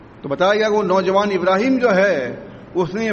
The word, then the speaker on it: ابراہیم: اس کو کر دیتے ابراہم کر دیتے ہیں. ابراہیم سے تلفظ بگاڑ کے ابراہم نام رکھ دیتے ہیں. آپ سمجھے؟ حالانکہ نام ابراہیم ہی ہے اس کا، لیکن کیونکہ ہندوؤں سے